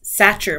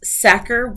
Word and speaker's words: Sachar: i've been calling lewis satcher my entire life uh it is sacker rhymes with cracker i found an audio